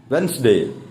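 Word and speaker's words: Wednesday: Sunday, Monday, ട്യൂസ്ഡേ, വെനസ്ഡേ എന്ന് പറയല്ലേ? വെൻസ്ഡേ. വെൻസ്ഡേ, വെനസ്ഡേ അല്ല, വെൻസ്ഡേ.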